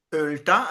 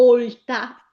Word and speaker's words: olta: Purtroppo devo dirle che lei non ha sbagliato, perché generalmente nei paesi si dice una ölta, ma il bergamasco di città, quello che parlo io, dice una olta. Allora olta con la O chiusa breve.